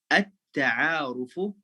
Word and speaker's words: at-ta'arufu: Nah, kalau saya mulainya bacanya a, kalau saya mulainya at-ta'aruf bacanya a, at-ta'arufu. Tapi kalau saya sambungin sama huruf sudah nggak dibaca ya. Kalau di pertengahan kalimat a-nya nggak dibaca, tapi langsung disambung.